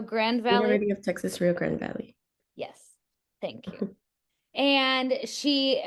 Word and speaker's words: Rio Grande Valley: University of Texas, Rio Grande Valley.